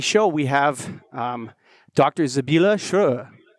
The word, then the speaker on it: Sibylle Schroer: society on today's show we have um dr zabila sure say hello to say hello to james slade hello thank you um you pronounce my name really well it's a hard